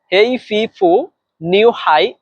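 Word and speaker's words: 黑皮肤女孩: হেই ফিফু new high এর বাংলা হচ্ছে কালো মেয়ে।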